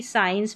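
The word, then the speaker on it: science: एस और सी को भी स प्रोनाउंस करते हैं। जैसे कि साइंस में क्योंकि सी जो है यहां पर साइलेंट है।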